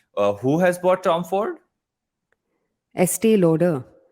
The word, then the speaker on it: Estee Lauder: Estee Lauder. How can you not pronounce this brand right? When I say it, Estee it Lauder. sounds like something else. What do you say, Este? please? Estee Lauder.